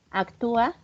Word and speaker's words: actúa: esto es importante, muchachos, actúa, lleva acento en la U, ¿sí o no? En la A. Corrijan mi ortografía, que ya se me fue. En la U, ¿verdad?